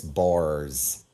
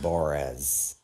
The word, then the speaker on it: Bors: His name's Chris Bors, which everybody would make fun of, but now he pronounces it Borez.